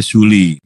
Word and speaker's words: Tule: Gue baru dapat informasi nih dari Rifa Cungkar bahwa Tule dibacanya Suli.